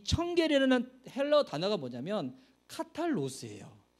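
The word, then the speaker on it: καθαρός: 헬러 달아놨는데, 그래서 이게 카탈로스, 이게 청결이라는 명사인데 이거를 형용사로 바꿀 때 카탈로이라고 하거든요. 이거 영어로는 P지만 이거 헬러 P가 아니에요. 이게 R 발음되는 건데, 그래서 여기서 이게 카탈로스가 파생되어서 카타르시스가 나오는 겁니다.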